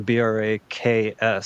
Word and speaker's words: Brax: Brax is not a Brax, it's a Braks. So it's like a plural name, if you will.